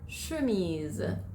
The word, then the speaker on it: chemise: এরপর সির পরে যখন এইচ থাকে তখন এটার উচ্চারণ হয় স্বর মতো। যেমন লে শাতো, লে শাতো মানে হচ্ছে একটা রাজপ্রাসাদ। আর chemise, chemise মানে হচ্ছে একটা শার্ট।